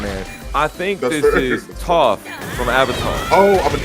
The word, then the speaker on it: Toph: Is it pronounced Toph, chat? Is it Toph? Yes, it is.